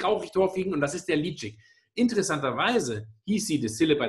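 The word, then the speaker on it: Ledaig: Laydeck ist tatsächlich ausgesprochen Litschig.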